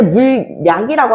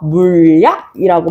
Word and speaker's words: 물약: 절대 물약이라고 하지 않아. 유마 일어나면서 물약이라고 발음해줘.